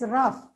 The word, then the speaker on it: rough: so so so r u g that is rough see what is the logic there if b